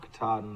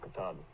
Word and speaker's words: Katahdin: That's Mount Katahdin there in the distance.